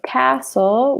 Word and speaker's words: castle: pronounce it similarly so Castle would sound like castle no T there is a city